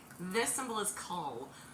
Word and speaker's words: Coll: This symbol is Cull. C-O-L-L, but pronounced Cull, like C-U-L-L. It's going to be the hard C or the K sound, and I keep looking at the wrong place.